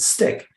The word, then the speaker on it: STCK: director of design at a company called stick or stck i hope i pronounced that correctly and he's a master in all things strategic design human centric design employee experience the future of work digital transformation and business transformation so steve welcome to the show thank you thank you great to be here sean did i get it right s-t-c-k stick is that how you would pronounce it spot-on excellent well steve it's